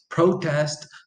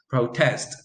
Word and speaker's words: protest: you so you have the noun which usually receives the stress on the first syllable and the verb which usually receives the stress on the second syllable there are a few